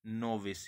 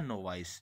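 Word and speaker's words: novice: ठीक है, उसके लिए हम कहेंगे नोविस या नोवाइस, जो भी आपको प्रोनाउंसिएशन करना है।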